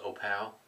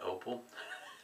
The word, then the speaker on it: Opal: a vintage brush here the way you pronounce that is Oh pal as opposed to opal it this one here's